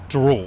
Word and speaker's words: Diroll: This is a life and times of Drool.